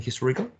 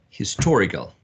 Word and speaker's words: historical: box no what's uh the most prominent syllable in historical historical maybe the second syllable is maybe this perfect maybe the second syllable right excellent okay um who's